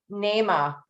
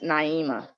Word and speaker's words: Naima: thanks for asking okay nema the name that i did not pronounce correctly would you please come off mute and pronounce your name for me it's naima naima it's even prettier naima